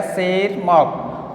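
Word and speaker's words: Tschermak: था, and Eric von सेरमार्क, यहाँ पर टी साइलेंट है, यह आएगा सेरमार्क ऑफ ऑस्ट्रिया।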